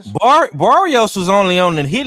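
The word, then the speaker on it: Barrios: How do you pronounce his name? I forgot. Barios.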